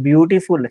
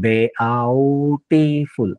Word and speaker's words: beautiful: जसं ब्युटिफुल हा जर शब्द पाहिला तर BEAUTIFUL पण त्याचा उच्चार करताना आपण बेआउटिफुल असं नाही करत. ब्युटिफुल म्हणजे EAU ह्याचं कॉम्बिनेशन यू मध्ये झालं.